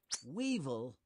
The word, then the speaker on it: weevil: Weevil. Oh, weevil rhymes with evil, and that's what many people think it is.